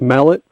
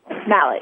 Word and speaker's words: Mallet: gina mallet sorry um i always wanted to pronounce her name as if she's french and she's not the canonical pronunciation is in fact mallet mallet okay if i ever